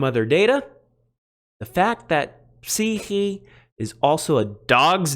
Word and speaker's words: ψυχή: Today's Greek word is psyche. Psyche. Now, if you use Erasmian pronunciation, I believe you would say something like suke or something like that. But this is the word for psyche in English.